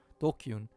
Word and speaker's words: DQN: or like online yeah japanese netslang pronounced dokkun ah okay it's tokyo not dqen dokyun used to refer to people who are stupid antisocial or delinquents i'm not a dqn okay i have to get used to that pronunciation next we eliminate those